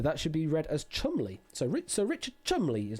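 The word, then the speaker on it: Cholmondeley: Lieutenant and the tower and pronounced Chumley, believe it or not.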